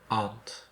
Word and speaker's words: aunt: Aunt. Aunt. You say it the same as me. Aunt. The vowel sound R, like car.